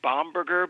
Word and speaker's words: Bomberger: hey it's great to be here it's actually bomberger but you know I've been called all kinds